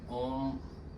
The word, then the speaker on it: ओम: तो गाइस ओम का जो उच्चारण है उसमें 3 वर्ड है, अ, उ और म। ये 3 वर्डों का उच्चारण होता है। सबसे पहले हम आ करते हैं, आ का उच्चारण, फिर उ, फिर म, तो ये टोटल बन के ओम बनता है।